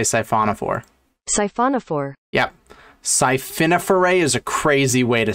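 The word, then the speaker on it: siphonophore: war is actually a safiniferae there are species that what a scifiniferae that can't be right how to pronounce scifauna four i imagine he was trying to say syphonophore is a crazy way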